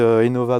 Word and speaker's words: eNova: Aimez Innova bien comme innovation.